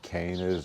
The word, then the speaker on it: canna: Mostly cannas or cannas, however you want to pronounce it. I think the right way is canna.